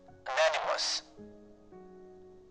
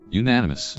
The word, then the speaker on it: unanimous: further than this the decision was ananymous wait is that am I pronouncing this correctly poke catch great ball unanimous unanimous ah I knew I was pronouncing it wrong the decision was unanimous